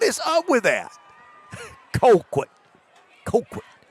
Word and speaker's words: Colquitt: Apparently, it's hard for them to even pronounce Colquitt. It is. What is up with that? Colquitt. Colquitt.